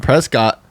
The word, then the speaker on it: Prescott: Tik Tok we're in Prescott Prescot that's what they pronounce it okay so presc Arizona